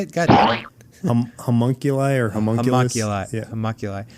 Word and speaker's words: homunculi: Homunculi or homunculus?